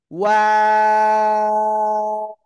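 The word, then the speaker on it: و: এই যে দুই ঠোঁট আছে না, দুই ঠোঁট এরকম গোল হয়।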